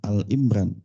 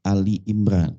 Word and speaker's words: Ali Imran: lam tu depannya tapi kalau yang ini bukan Al Imran Tapi Ali Imran bacanya kan orang sering baca Al Al Imran kalau Al Imran berarti mufradat menujuk kepada satu si imrannya aja padahal enggak begitu kalau dikatakan Ali lagi ngomongin Ali keluarganya Imron ya jadi keluarganya Imran